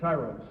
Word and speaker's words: Tyros: What is the correct pronunciation? Tyros.